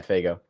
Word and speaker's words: Faygo: Faygo or Fago? Yeah, Faygo.